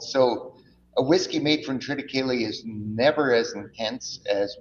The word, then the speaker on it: Triticale: Now, I say Triticale. How would you say it? That's exactly how you pronounce it.